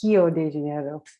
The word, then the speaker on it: Rio de Janeiro: janeiro in portuguese it's hilo de janeiro the r's in portuguese are pronounced like an h okay i learned something